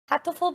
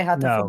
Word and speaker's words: Hatoful: I would say Hatoful Boyfriend.